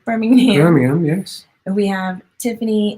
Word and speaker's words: Birmingham: Sally Jeffries, hey Sally, is UK, Birmingham. Yeah, I said it right, Birmingham.